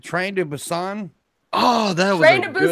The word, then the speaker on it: Busan: Train to Busan.